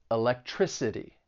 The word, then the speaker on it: electricity: Words that end in ty, cy, phy, gy, and al, the stress is going to be on the third to last syllable. So electricity, photography, biology.